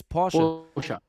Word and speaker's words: Porsche: Oh my God, I already again pronounced it English. It's Porsche.